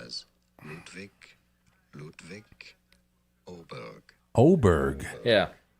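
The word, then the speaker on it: Ludvig Åberg: I use the same thing for pronounces his name as Ludvik Ludvik Oberg. Oberg. Yeah, his name is spelled Ludvig Aberg. I thought it was Aber, but it's pronounced Ludvig Oberg.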